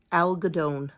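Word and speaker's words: algodón: Spanish in high school Al gadon that's how you say it in Spanish cotton is that a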